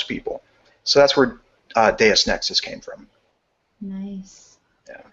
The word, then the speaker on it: Deus Nexus: so that's where uh deus nexus came from nice yeah now i know how to pronounce it correctly i uh i was always saying deuce so um do you